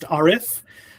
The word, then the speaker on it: Arif: So it's pronounced Arif.